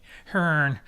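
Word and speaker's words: Hârn: lost oh boy Hearn World cyclopia Encyclopedia hernica Hearn that's how that is pronounced Blake greyhawk City box set so many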